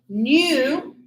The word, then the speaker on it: knew: And here, know, knew, known. And look at this, same pronunciation as new, brand new. So the K is silent.